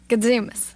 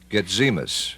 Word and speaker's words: Gatzimos: Gadzimus. Spell it. Gatzimos. Gadzimus. That's Greek. Brenda Gayle Gadzimus.